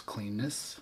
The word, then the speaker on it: Cleanness: about Garth green whales cleanness aka rhymes with penis that's right Garth green